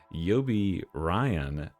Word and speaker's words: Yobiraion: And today I am joined by a collaborator, Yobi Ryan. And I always knew how to say his name. All you have to do is uh it's like a lion with an R.